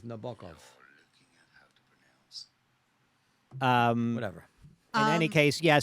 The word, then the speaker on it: Nabokov: closer to Periel's pronunciation. No, she said Nabokov. no, I said Nabokov. It's Nabokov.